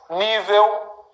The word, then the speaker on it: nível: Nível, mais forte.